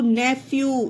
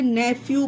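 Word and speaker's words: nephew: पी एच ई डब्लू नेफ्यू इसे नेफ्यू पढ़ेंगे इसे भी फा ही पढ़ना है नेफ्यू मींस भतीजा या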